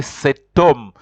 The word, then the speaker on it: cet homme: For example, you can't say home, you have to say cet homme. Just like the word hotel, you have to say cet hotel.